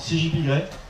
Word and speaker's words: CGP Grey: T'as par exemple CJP Grey. Donc ça s'écrit CGP Grey comme le gris, voilà.